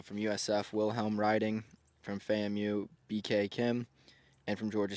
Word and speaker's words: FAMU: this group yeah Doug that is a FAMU I believe it's how it's pronounced um FAMU yep FAMU it goes by yep that's the term